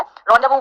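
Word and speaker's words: rendezvous: एन डी इज़ जेड वी ओ यू S spelling थोड़ी सी tough है रोंडबो वी बोलते है रंडव है ना तो ये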